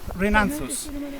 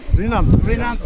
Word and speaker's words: Rhinanthus: Hay rattle, Rhinanthus. Rhinanthus.